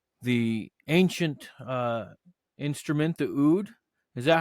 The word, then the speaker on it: oud: a musician plays the ancient uh instrument the oud is that how it's pronounced rahem the the oud absolutely all right yeah so welcome for joining